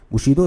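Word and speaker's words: bushido: बुशीदो spelling होती है बी यू एस एच आई डी ओ बुशीदो का मतलब होता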